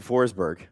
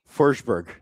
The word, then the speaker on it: Forsberg: Like, we grew up saying Forsber. It's Forsberg, isn't it? For Forsberg.